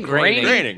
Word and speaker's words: Groening: You mispronounced his name, which is insulting to him enough. Is it Groening? Groening. Groening. Right.